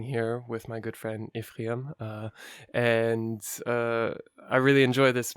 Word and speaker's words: Ephraim: Yeah, I want to spell it because everybody is pronounce it a little bit wrong. It's Ephraim.